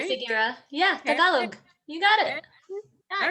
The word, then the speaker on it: Tagalog: Yeah, Tagalog.